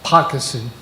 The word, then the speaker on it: Poquoson: This includes several roads, Big Woods Drive, Waterman's Way, Poquoson Path, I guess I should say, properly pronounced.